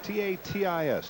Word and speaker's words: Tatis: And the batter is Bernie Tatis, T-A-T-I-S. Tatis. Hit everything and pronounced it right once, 1 out of 3 times.